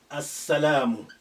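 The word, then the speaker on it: السلام: If I say As-salam, if I say As-salam, As-salamu, the peace. As-salamu. This sin is a sun letter. That's why it's carrying the shadda after al. And that's why the sukun of lam has been removed.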